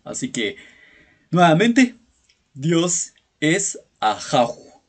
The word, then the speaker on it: Ajaw: o en castellano Así que nuevamente Dios es ajo